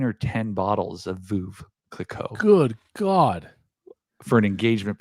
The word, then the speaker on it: Veuve Clicquot: Veuve Clicquot. I do speak French. How do you pronounce it? Because I know I butchered it. Veuve Clicquot. Perfect.